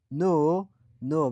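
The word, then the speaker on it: know: نو ببین اینجا حرف که قبل از حرف این آمد تلفظ نمیشد.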